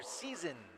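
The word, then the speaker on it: Sison: Another substitution for South Elgin, number 2, Victor Season. Season spelled like season.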